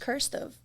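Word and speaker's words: Qrstuv: with this name and it's q-r-s-t-u-v and it's pronounced cursive cursive and I was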